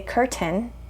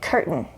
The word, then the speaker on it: curtain: way of pronouncing certain another example is cur curtain okay so maybe you say curtin and that's okay but better to say curtain if you want to sound more native and reduce that accent